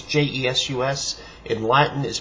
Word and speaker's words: Jesus: Testament, and so but it would have been pronounced at the time Jesus, not Jesus. That's more a modern English because of the way the sounds developed for the letter J, which wasn't the same at the time.